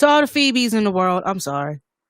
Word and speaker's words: Phoebe: no i pronounced it phobia like i didn't know i'm sorry it's all the phoebe's in the world i'm